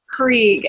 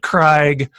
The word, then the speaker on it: Krieg: say your last name Creek as in the German war strategy okay nice Krieg we'll see because I would probably pronounced it wrong because of where the AI is in your name right I probably would've said Craig or I don't know